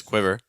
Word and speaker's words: quiver: us how to pronounce quiver so with a qu sounds like a w followed by a short eye so I qu qu so make sure it's not qu watch out for that e sound um so if